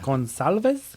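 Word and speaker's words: Gonçalves: the C I think it means it's an s s yeah gonalves yeah cuz it kind of looks like an S if you draw an S all the way out but it's spelled with a c but it makes the S sound with the little hook in there is that for real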